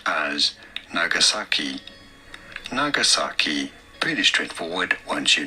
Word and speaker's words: Nagasaki: In Japanese, this is usually said as Nagasaki. Nagasaki. In English, however, it is normally pronounced as Nagasaki.